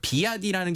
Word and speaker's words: BYD: 그러니까 비아디라는 게 이제 중국식 발음이고 이제 원래 이제 미국의 브랜드는 BYD라고 써 있거든요.